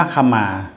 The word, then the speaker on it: ขมา: สิ่ง ที่ ต้องการ วิงวอน คมา อ่าน ว่า ขมา พจนานุกรม ปี 54 เช่น